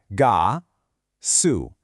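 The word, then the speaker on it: 가수: The first part is the syllable we already know, ga. The second part is our S consonant with the U vowel, su. So we have ga, su, gasu, and gasu means singer.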